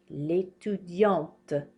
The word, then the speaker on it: l'étudiante: L'étudiante. We pronounce this T now. Did you hear how I was not pronouncing it here? L'étudiant. L'étudiante.